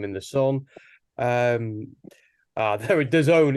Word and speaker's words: DAZN: Um, there, DAZN, it's pronounced.